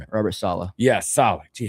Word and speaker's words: Saleh: Yeah, Saleh.